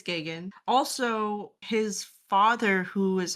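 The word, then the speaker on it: Geoghegan: wrong cuz Yeah, I would have pronounced it as Guggenhagen. Yeah, like it was something like that, bro. That's that's a that's a cool pronunciation for that spelling. Oh, but apparently it's gagan.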